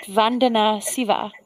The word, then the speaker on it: Vandana Shiva: So, how do you pronounce it? Vandana Shiva. Yes, Vandana Shiva.